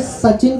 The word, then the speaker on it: सचिन: वो भारत आए थे और उन्होंने सचिन तेंदुलकर का नाम मिसप्रोनाउंसिएट किया था। हाँ, उन्होंने सचिन को सुचिन बोल दिया था।